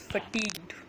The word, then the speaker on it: fatigued: drained sleepy burned-out fatigued the word that I pronounced is fatigued it's not fatigue dude it's fatigue the other words to